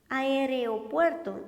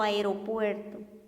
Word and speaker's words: aeropuerto: correcto es decir traslado aereopuerto y lo correcto aeropuerto correcto es que está